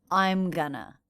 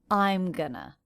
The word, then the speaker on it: I'm gonna: Notice how I'm is the most stressed syllable in that fragment. I'm gonna. That's because going is a helping verb here, not the main verb. The main verb is stressed.